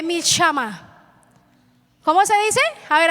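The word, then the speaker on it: מלחמה: ver Señor me ayude se escribe así mil jama pero no se lee así se lee mil shama Cómo se dice a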